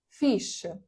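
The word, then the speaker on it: fixe: Фіш. Е, фіш - це читається не фікс, не фіз, не фі, не як ще. Ну, коротше, це читається як фіш.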